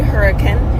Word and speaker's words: Hurricane: it's in Hurricane Utah it's spelled like hurricane but when you're local you say hurricane and it's the Gateway